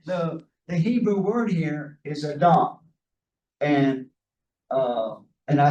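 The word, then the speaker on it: אדם: But as I said, the Hebrew word here is Adam. And I say Adam as opposed to Adam, because if I put the stress on the first syllable, Adam, that is a way of distinguishing Adam, the Person.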